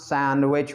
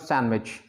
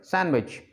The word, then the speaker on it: sandwich: we drop some consonant here it's sand which we pronounce it sand which indians pronounce sandwich but it becomes sandwich how it sounds it sounds natural sandwich it makes it rhythmic